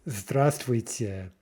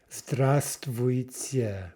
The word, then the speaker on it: здравствуйте: So hello is здравствуйте. Здравствуйте. Remember that we're not pronouncing the V.